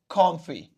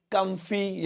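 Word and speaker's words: comfy: Comfortable को बोलेंगे short में कॉम्फी। कॉम्फी है ना, कॉम्फी भी बोलते हैं, अलग अलग प्रोनाउंसिएशन है अलग अलग कंट्री के हिसाब से, कम्फी या कॉम्फी, ऐसे मैं कॉम्फी बोलूंगा ब्रिटिश प्रोनाउंसिएशन के हिसाब से, कॉम्फी।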